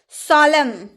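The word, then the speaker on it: solemn: सॉलम, सॉलम इसमें भी एन का उच्चारण नहीं हुआ।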